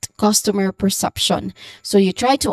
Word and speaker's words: customer: So this is customer. The stressed syllable here again is on the first syllable, cos. So this is customer.